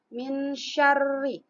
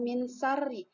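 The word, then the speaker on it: مِن شَرِّ: honest tapi khan Naswa minsyarri dengan min syar'i mim syar'i salah tapi minsyarri eh perhatikan tulisannya baik-baik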